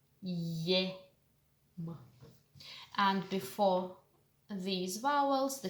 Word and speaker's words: ем: As if you pronounce the sound y at the beginning and then a, I, e, ya, yem.